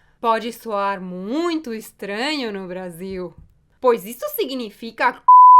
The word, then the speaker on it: Brasil: Mas quando esta letra está no final, se pronuncia U, como em Brasil, Brasil.